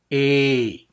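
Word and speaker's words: η: But actually, it sounds like A. A. Okay, that is its sound. A, as in obey. It's a long E sound.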